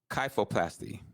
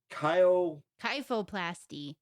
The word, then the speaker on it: kyphoplasty: Kyphoplasty.